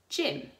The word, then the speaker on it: gym: done giant and I also said it often goes next to the letter Y I can think of a good one for this something that you might do in PE gym gymnastics so they sound like they should be let everything with the letter J but they're actually written with that G the soft G sound you can also have